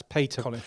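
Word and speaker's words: Piotr: W what what a great machine shop that's Peta spelled p i o t r um pronounced Peta so we got that correct it's great machine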